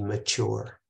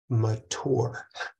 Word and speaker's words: mature: There is an interesting paradox when discussing what it means to be mature. This one's parents pronounce the word mature, and his generation pronounced it mature.